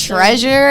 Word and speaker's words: Tresure: this for everybody yes treasure is my real name the way it's spelled is without a a so t-r-e-s-u-r-e but yes that's my